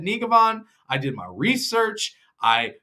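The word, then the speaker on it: Njegovan: I said Nigavan. I did my research. I spoke with some people. They said, yeah, Nigavan sounds right.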